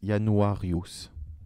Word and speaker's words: Januarius: janvier est tiré de en français s'écrit un russe mais ça se prononce il y a noir youth en latin moi dédié à Janus